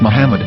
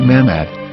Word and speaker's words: Muhammad: say Hebrew English dictionary it is correctly pronounced as Muhammad not mammad so how we're going